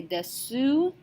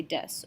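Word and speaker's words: です: to ask, O genki desu ka? O genki desu ka? So remember that the hiragana su is only pronounced as an S when it's at the end of a word, such as in the word des.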